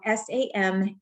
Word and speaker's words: Samhain: so if you're not familiar with samhain it is spelled s-a-m-h-a-i-n h-i-a-n yes okay and it's pronounced samhain i